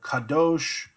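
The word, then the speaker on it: קָדוֹשׁ: noun and the adjective adjectives often have a very long vowel in their second syllable so Kadosh take things like this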